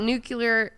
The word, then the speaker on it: nuclear: a nuclear power plant say it new nuclear nuclear it's like new coke in you nuclear uh i'm gonna throw